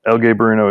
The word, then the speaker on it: El Gaberino: how to pronounce that so el gay burno is the correct pronunciation yeah no problem incident